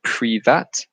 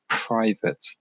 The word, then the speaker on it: private: So many people say privat. Okay, they mistake the A for a different sound. So I hear very commonly people say privat, and this is very different from the English private.